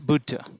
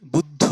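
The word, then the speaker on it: Buddha: sound আলাদা আলাদাভাবে এখানে দেখানো হল তাহলে কেমার বুড আমি বুদ্ধ না বলে বুডা বুড এরম করে কিছু উচ্চারণ করছি এই একই সাউন্ড পুট উ বুডা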